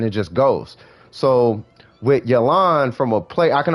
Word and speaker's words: Yelan: game play perspective for yolon uh for elon oh and for anybody out there it's actually yelen if you wanted to know i guess the proper way to pronounce it but i'm just call